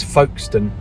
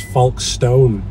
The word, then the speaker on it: Folkestone: That's Folkestone. But sorry, my friend is from the north. I actually thought it was Folkestone. Yeah. That's how it's spelt.